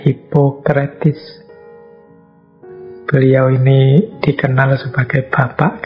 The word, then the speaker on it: Hippocrates: tokoh kita malam hari ini, ya tulisannya Hippocrates. Biasanya orang membacanya Hippocrates.